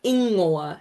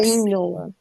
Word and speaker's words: ingoa: Ingoa. It's like Inoa. ingoa.